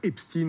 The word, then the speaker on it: Epstein: à suivre cette affaire epst in on a choisi sur et d'essayer de le prononcer à l'américaine effectivement en france on